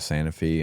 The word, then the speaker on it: Santa Fe: It's Santa Fe, but everyone there pronounces it Santa Fe.